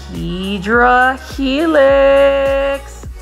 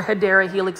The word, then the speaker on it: Hedera helix: And then right over here is a large Hedra Helix. Gotta love this Hedra Helix, or Hedera Helix is the correct way to say it.